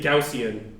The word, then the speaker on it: Gaussian: like this so uh if you want to be proper don't say gaussian like me gaussian is like street street uh probability uh say gaussian that's the right way to say it but I'm going to